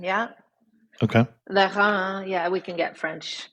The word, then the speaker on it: Lérins: And my French pronunciation aside, these are the Lorrains? Yeah, the Ile de Lérins. Yeah. Okay. Lérins.